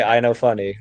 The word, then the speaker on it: Innofunni: I say Innofunni, like that.